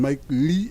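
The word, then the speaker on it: Mikyle: give Lou some confidence is it mik mik is that the correct pronunciation yep mik I think we calling Mike Ley Louie what's that Mike Le Louie mikele Mike Le like in Mike Lee l e e oh Mike Lee yeah oh so it's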